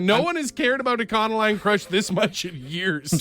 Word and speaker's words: Econoline Crush: A conoline crush.